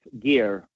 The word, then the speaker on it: Geir: exactly so it's uh it spells you know g-e-i-r but it pronounced like gear so I just tell